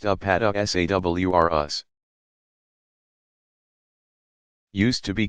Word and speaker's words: Apatosaurus: These giant plant eaters include the Apatosaurus, pronounced Apatosaurus.